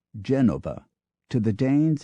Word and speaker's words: Genova: not Milan but Milano not Genoa but Genova to the Danes it's